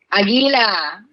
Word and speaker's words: Aguila: Aguila.